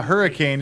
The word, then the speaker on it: Hurricane: draw your attention too if you're from Utah Hurricane is pronounced hurricane because we have a city called Hurricane Utah Drive related to uh